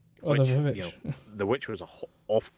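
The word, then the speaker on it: The VVitch: Directed by Robert Eggers, who directed the Witch when it was spelled with two V's. Oh, Which, The Vivitch.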